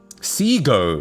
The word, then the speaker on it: Segoe: How do you actually pronounce that? I think I say Sego, but like I think that's wrong. Sego. It's Sego according to Wikipedia.